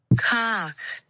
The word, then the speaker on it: Kahk: But also, this is how Google pronounced the word cock. That's how I'm reading it. Right? Kahk.